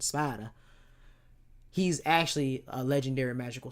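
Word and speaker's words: Sparda: Right now, when you go into his actual name of Sparta, Spider, that's how you pronounce it. His act how you actually pronounce it. Spider, he's actually a legendary magical swordsman.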